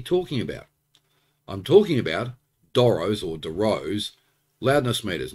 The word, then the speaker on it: Dorrough: to talk about it I pronounce it Doros I know other people probably pronounce it Derose I think these are